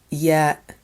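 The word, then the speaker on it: ي: Letter ya. Ya. This is the sound you find in the word eyes because it looks like two eyes under heavy bangs.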